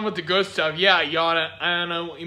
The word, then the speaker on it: Jana: Go subscribe to Yana. Oh my gosh, stop lying. Her name is Yana, not Jana.